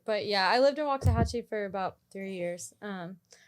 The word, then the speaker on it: Waxahachie: were you living in waxahachie is that why your hair person is in wax i like how you say it exactly right um yeah she her